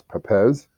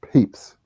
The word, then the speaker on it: Papez: can conclude that that's Pepez, which I told you for 20 years it was, but Mark Breedlove knows more than I. It's capes. Rhymes with capes. So it's papes. P-A-P-E-Z, papes. The papes circuit.